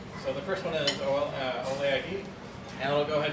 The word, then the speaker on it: OLE: Some people don't know how to say this, but it's OLE.